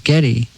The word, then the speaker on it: Geddy: was born gary but when she pronounced it everyone thought it was getty and so since for